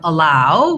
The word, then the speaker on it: allow: So first for allow, we have second syllable stress, allow. So the allow part is long. It's like the word ow or like the word ouch. It's this ow diphthong.